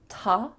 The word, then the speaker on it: to: Instead, there are two different ways that we can reduce this. You could say ta, ah, with an ah vowel, or you can simply say t. Just that T sound, t.